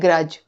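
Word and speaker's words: grudge: इसी तरह ग्रज में भी नहीं है। ग्रज का मतलब होता है मनमुटाव या बैर रखना। जब हम किसी को पसंद नहीं करते तो हम यह इंग्लिश का वर्ड यूज़ करते हैं ग्रज। Long lasting feeling of dislike और एंगर। इसमें भी डार्क का प्रोनंसिएशन नहीं है।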